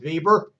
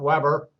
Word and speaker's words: Weber: Compare the organizational theories of Fayol and Weber. It's spelled Weber for those of us that speak English, but he was German, and therefore it's Weber.